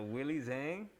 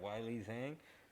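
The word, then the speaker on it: Weili: money on that one so willie zang i think i pronounced that yeah what or or what is it why lee yeah yeah wylie zang and then rosie nama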